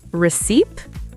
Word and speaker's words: receipt: Receipt? The P is silent. It's receipt. Receipt. I've been saying the P. Common mistake. Receipt, silent P.